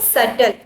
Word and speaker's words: subtle: B is silent here. Okay, subtle.